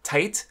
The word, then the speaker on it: Tite: Japanese syllables T thing apparently it's actually supposed to be pronounced tight like a word for cool that's not cool anymore